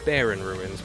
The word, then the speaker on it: Barren: In case you wondered, it's not pronounced Barren Ruins, it's Barren Ruins, because the planet that the game was from, that this track is from, the planet that the track is from, is called Planet Barren.